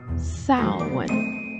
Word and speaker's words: Samhain: This day was the eve of the Celtic New Year in honor of their god Samhain, pronounced Samhain, like a female pig, like a sow.